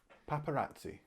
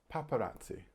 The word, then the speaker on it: paparazzi: look at my list paparazzi paparazzi i think you can guess by the sound of it what language this comes from but it's italian check out the pronunciation here paparazzi and paparazzi are photographers